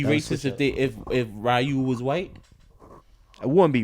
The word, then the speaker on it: Ryu: Niggas they say his name is Ryu, not Ryu.